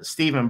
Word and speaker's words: Stephen: And rest in peace to Stephen Brown. But can you tell us how Stephen? My man, yeah. Steph. Because I know it's spelled Stephen, but we're going to use it pronounced Steph.